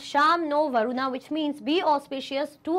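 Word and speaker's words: शं नो वरुणः: The emblem of the Indian Navy contains the motto Sham no Varuna, pronounced Sham no Varuna, which means be auspicious to us, O Varuna.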